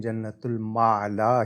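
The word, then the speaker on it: جنت المعلیٰ: انصاری صاحبہ کا کہ جنت المالا درست تلفظ ہے یا جنت المعالی؟ جی جنت المعلا بھی کچھ کہتے تھے لیکن جنت المعلا ہی صحیح ہے۔ اگلا سوال اسرار علی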